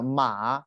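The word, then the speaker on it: 马: kai script it's simplified we pronounce it ma third terms his radical is a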